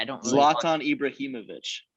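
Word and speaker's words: Ibrahimović: right i don't know ibrahimovic is that how you say it yeah that's the first time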